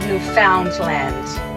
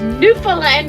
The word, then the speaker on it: Newfoundland: how to set newand instead of New Foundland I kept saying New Foundland and she's like it's Newland and I'm about got